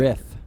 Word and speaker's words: Rith: I think it's riff, like a guitar riff, not like a rift in time.